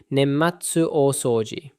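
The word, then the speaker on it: 年末大掃除: Pronounced roughly nematsu osouji.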